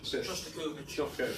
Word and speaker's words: Shostakovich: Aaron, how do you pronounce that? Shostakovich.